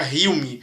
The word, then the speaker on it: Hume: David Hume, não sei como é que fala, se eu não me engano se pronuncia Hume, apesar de se escrever Hume, se pronuncia Hume, né?